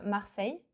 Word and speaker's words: Marseille: There is no S at Marseille. No, no, no. But yeah, here you know that he's not French. Marseille, that's how it should be pronounced.